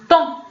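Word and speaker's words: temps: ولكن فاش غادي نطق بها شنو غادي نقول؟ طون. لو طون هو الوقت. دونك فين هي اس؟ ما نطقتش بها.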